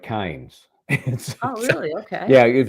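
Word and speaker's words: Cairns: Sydney drove up to how do you pronounce c a i r NS how would you pronounce that could you spell that again c a i r NS Karen that's what I would think but Aussie land it's more like KES oh really okay yeah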